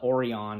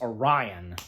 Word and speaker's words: Orion: I mispronounced the name not uh or on it's Orion jeez you know again